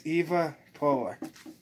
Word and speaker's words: EvaPolar: my thoughts on the EvaPolar. A lot of people say that wrong, but it's okay. I mean, some people, you know, it's kind of tongue twister, but it's EvaPolar.